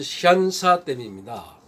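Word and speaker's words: 三峡: 한문으로 놓으면 석삼자에다가 그 협곡할 때 그 골짜기 협, 세계 협곡이 만나는 지점이라 해서 삼협댐이라고도 하는데, 이 삼협댐이 중국식 발음으로는 샨샤댐입니다.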